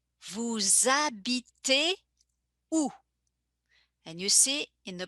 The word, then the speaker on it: vous habitez où: And you see in the pronunciation, I make a little connection between vous and habiter. I connect them in the pronunciation as if they were part of the same word. The H being silent. In French, we never pronounce the initial H. And the S becomes like a Z sound.